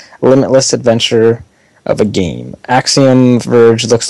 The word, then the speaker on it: Axiom: interested um next up another word I can't pronounce axium axom yeah it's Axiom oh look at that first try Axiom Verge coming to vaita